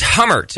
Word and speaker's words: Hummert: I haven't forgotten hummert am I saying your name correctly you are saying it correctly there we go hummert is on the line